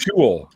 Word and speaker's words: shul: Was that It's pronounced shul.